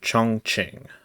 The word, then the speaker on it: Chongqing: Google like pronunciate or whatever, and it said Chongqing. That's apparently how it's pronounced, according to Google. So that's what I'm going to say. Connect the city of Chongqing at the confluence of the Yangtze and Jiling,